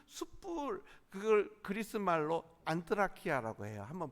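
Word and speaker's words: ἀνθρακιά: 그리고 그 숯불, 그걸 그리스 말로 안트라키아라고 해요. 한번 발음해 보시다.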